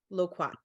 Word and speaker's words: Loquat: Joining us this evening, we have Jordan Carey, a Bermudian designer and founder of Loquat. Am I pronouncing that right, Jordan? I should have. Loquat.